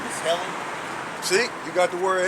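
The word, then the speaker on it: Ἕλλην: And the pronunciation is Helen.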